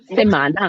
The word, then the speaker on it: semana: गया तो उसको उसको बोला जाता है दे सेमाना देमाना स्पेलिंग बता दोनों एस ई एम ए एन